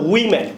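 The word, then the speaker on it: women: আর many ওমেন বলি, ওমেন না, এটা উই ম্যান, উই হবে উচ্চারণটাকে আমরা কই না উই, এর একটা টান হবে উই ম্যান, ট্রাই টু সে ওমেন।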